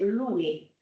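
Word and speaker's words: lolo: And it's pronounced Louis.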